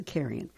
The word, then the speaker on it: Zakarian: Celebrity chef Joffrey Zakarian Zakarian, that's what it's pronounced, Zakarian, is 65.